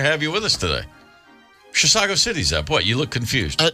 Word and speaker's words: Chisago City: who's listening up in Chisago City. You did it! I said it right. Yes. Chisago City. Now it's just a matter